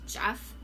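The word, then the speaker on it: Geoff: how to pronounce this is this Jeff g e o f f like another way to say Jeff Jeff radkey and this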